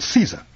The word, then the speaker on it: Caesar: them now you take Caesar it's Latin in Latin it's pronounced like Kaiser with a hard C but we anglicize it by pronouncing a soft SE the Russians say zah